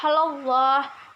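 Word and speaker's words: الله: keenam itu ada Wah Allah dibaca tafkhim karena lafadz Allah didahului oleh huruf hijaiyah lam berharakat fathah maka dibaca dengan tebal yang ketujuh ada Hai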